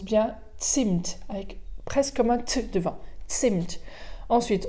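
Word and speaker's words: Zimt: avec un z donc bien céline ça se prononce bien sint avec presque 20 cents ensuite on retrouve sur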